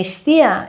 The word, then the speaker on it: Гестия: я правильно по-русски говорю, Гестия, да, Гестия, либо Гестия, как-то так. Но если я правильно ее произношу по-русски, по-гречески это богиня Истия.